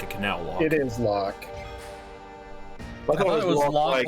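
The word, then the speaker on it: Locke: canal lock it is lock lock like locking ke well also uh what there's an e on the end of it but you pronounce it like lock as in like you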